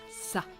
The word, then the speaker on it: ça: The C with a CD, which is the little thing that you see under the C, is pronounced as a S. Donc, ça.